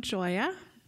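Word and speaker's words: Gioia: good morning so I'm Joya it's spelled GI oia but it's pronounced joy with an A at the end it's Italian and I'm going to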